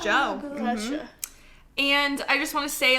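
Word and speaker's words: Djo: And like the rest of the world, I've been listening and hyperfixating over Joe Keery's music, better known as Joe. And when But That's just how you pronounce that. Joe.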